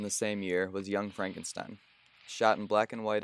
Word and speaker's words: Frankenstein: who doesn't know he is hunchbacked no it's pronounced Frankenstein of course I'm sure we'll get along splendidly